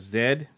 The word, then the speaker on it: Z: wrap up by saying I caught the lost city of Zed uh I just learned how to properly pronounce the z um it stars Charlie